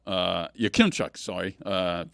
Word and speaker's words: Yakimchuk: And Florian ended up ragdolling Carter uh Yakimchuk. Uh Yakimchuk, sorry. Uh mispronounced his name.